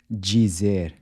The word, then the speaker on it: dizer: Dizer. So you see the “d-i” at the beginning of words is also pronounced like the “j” in judge.